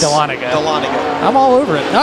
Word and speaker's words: Dahlonega: I tried to get Da-Lon-Aga. Yeah, the Aga might be... Iga. Yes. Dahlonega.